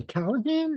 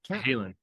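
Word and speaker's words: Cahalen: in your album with, how do you say, Callahan? Is it Cahalan. Cahalan? Cahalan, yeah. Cahalan, okay.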